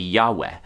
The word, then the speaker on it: Yahweh: christian religion is that we don't know for sure how to pronounce the name of our own god good evidence suggests it should be yahweh but good evidence is